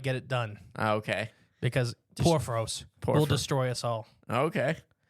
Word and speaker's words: Porphyrios: We're going to talk about Porphyrios.